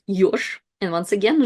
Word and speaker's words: ёж: It's yosh. And once again, zh is at the end, so it's kind of more like sh.